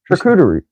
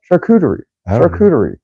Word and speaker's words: charcuterie: like um assortment of different types of food recruiter you saying it right charcuterie sure okay pretty sure now you got me